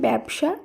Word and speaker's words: ব্যবসা: এ হিসেবে উচ্চারিত হয়েছে একইভাবে ব্যবসা শব্দের শুরুতে জ ফলা এবং পরে অধ্বনি রয়েছে শব্দটির উচ্চারণ এ হিসেবে হয়েছে একইভাবে খ্যাত এই শব্দে